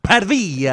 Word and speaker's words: Pavia: It's pronounced Pavia.